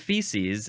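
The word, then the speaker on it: faeces: a l and also F AE CES which are pronounced feal and feces and they are the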